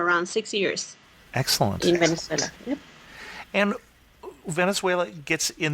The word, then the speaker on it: Venezuela: who has come to talk to us about vuela Diana welcome to the show thank you and first of all I know I'm pronouncing the name of the country wrong so